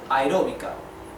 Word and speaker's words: aeróbica: In Spanish we call it aeróbica. Aeróbica. Okay? Aeróbica. Aeróbica is separated in syllables.